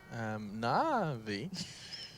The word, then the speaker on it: NaVi: That's actually the phonetical way to pronounce NaVi. NaVi.